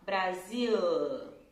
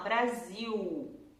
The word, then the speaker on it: Brasil: Mas quando a letra L tá depois de uma vogal, assim, no final da sílaba, ele vai fazer um som de U. Ele não vai fazer L, né? Então a gente não vai falar Brasil, a gente vai falar Brasil.